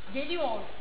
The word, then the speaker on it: geliyor: Hani geliyor mesela. Hani yüklemlerde sonunda R vardır. Geliyor. Biz R'yi orada yavaşça ineriz bitiririz. R'ye çok basmayız mesela.